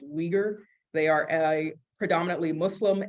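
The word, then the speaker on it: Uyghur: where in the packet u y g hu R that's pronounced weager they are a predominantly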